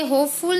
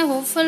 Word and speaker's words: hopeful: ये होपफुल नहीं होता है, होपफुल होता है. ये यहाँ पे फुल इसका प्रोनाउंसिएशन न होकर के फल यहाँ पे होता है अकॉर्डिंग टू द फोनेटिक.